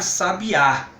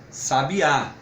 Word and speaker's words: sabiá: que eu vou falar sabiá sabiá com força na última sílaba que inclusive o recebe